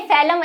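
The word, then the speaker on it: phellem: है वो है फेलम अब ये फेलम एफ दिख रहा होगा लेकिन इसकी स्पेलिंग पी से शुरू होती है इन तीनों की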